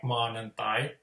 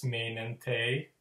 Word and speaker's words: maanantai: thing is that if there's a word like maanantai, the Finnish for Monday, they'll say the vowels wrong, so that they'll just randomly decide that it's mainantai or something.